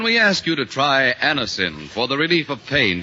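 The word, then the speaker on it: Anacin: When we ask you to try Anisonin for the relief of pain due to a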